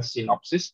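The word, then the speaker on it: σύνοψις: Bacanya adalah sinopsis yang pertama.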